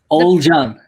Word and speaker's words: Ogulcan: again i'm so sorry old john old john yeah old john it's like it's like o h l and john old john yeah old